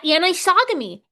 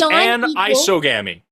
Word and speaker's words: anisogamy: Anisogamy. Anisogy. Not not and a hard eye, too. Yes. An isogami. Yeah, because it's an as in not iso or iso like meaning equal right cuz